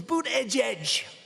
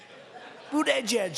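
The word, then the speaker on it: Buttigieg: I think it was boot Edge Edge boot Edge Edge they said think of it as Boot and then Edge Edge cuz nobody can pronounce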